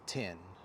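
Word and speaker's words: 天: Heaven and the way that you pronounce it pronounce the the symbol is 10 look at that it says 10 on the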